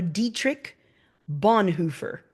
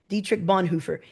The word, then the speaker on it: Dietrich Bonhoeffer: Este lo dijo el cristiano Dietrich Bonhoeffer, me parece que se pronuncia. Dietrich Bonhoeffer.